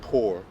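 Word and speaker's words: πῦρ: p-y-r is the uh how you spell it p-y-r let's let's listen to how you say it because that goes into a lot saying poor pyr and it does say poor pronunciation poor all right so that's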